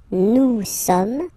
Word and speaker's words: nous sommes: Nous sommes, okay? Nous sommes, okay? So you don't pronounce the final S here, it doesn't exist.